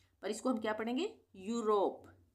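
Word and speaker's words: Europe: आ रहा है और इसको हम क्या पढ़ेंगे यूरोप यूरोप कंट्री का नाम है ना यूरोप अब है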